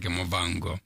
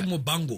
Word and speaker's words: Muvhango: I think most people got to know me when I was doing Muvhango, which like Botswana, Muvhango. Oh, it's actually Muvhango. Muvhango, okay. Yeah, that's how you pronounce it.